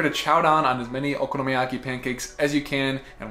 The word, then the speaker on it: okonomiyaki: on my list is something that that is six syllables long and very satisfying to say but even more satisfying to eat which is okonomiyaki or okonomiyaki these Savory Japanese pancakes